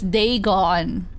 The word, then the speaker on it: Dagon: Dagon the fish God oh it's day gone okay I know how to say it now oh there he is